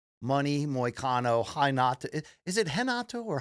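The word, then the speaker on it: Renato: moano haato is it henato or h it's spelled re e so the r is an H so I think it's h against of course BSD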